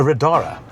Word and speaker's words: Riddara: I'm sitting in a radara. Is that the correct way to pronounce it? That is correct. And Rodara is the luxury brand from Gili.